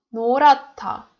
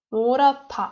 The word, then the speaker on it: 노랗다: 노랗다, 노랗다. I don't read h.